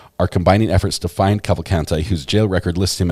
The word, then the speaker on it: Cavalcante: very far uh yes you said it right cavalcante that's what I'm just going to try to